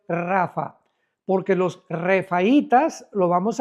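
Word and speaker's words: Rapha: R de Raúl, A de Armando, P de Pedro, H intermedia, A de Armando, Rapa, pero se pronuncia en el hebreo Rafa, porque los refaitas, lo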